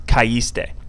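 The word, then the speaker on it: caíste: If we don't have an accent on this I, this is now pronounced kaiste instead of kaiste, because the A and the I make this sound, I. We want you to pronounce kaiste.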